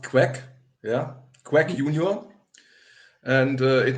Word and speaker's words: QEK: and what does this QE mean okay it's pronounced quack yeah quack Union and it means which is